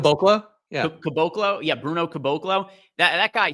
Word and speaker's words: Caboclo: How was his last name pronounced? Caboclo? Yeah. Caboclo.